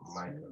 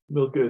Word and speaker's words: Milcah: But it pronounces Micah. No, Milcah is Milcah.